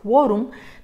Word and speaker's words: quórum: sílabas terminen m y como dice quórum y lo que esperamos que diga es quórum necesitamos colocar una tilde